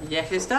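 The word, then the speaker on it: Yeghes da: Yehesda.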